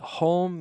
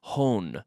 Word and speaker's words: home: Be careful with the pronunciation, closing your mouth with the M. Home. Home. No quiero oír hone. No. Home. Home. Como Beckham. David Beckham. Beckham. Cerrando la boca.